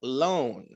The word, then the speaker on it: loan: Es un loan. ¿Por qué? Porque es el sonido largo de la O, la A es muda.